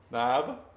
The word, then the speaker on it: Neva: We have Miss Haley, Miss Andrea, and Miss Niva. I want to say Neva so bad, but it's spelled like Neva, but it's Niva.